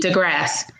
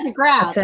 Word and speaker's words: DeGrasse: But I think Samantha DeGrasse. Don't pronounce the E. DeGrasse. Samantha DeGrasse.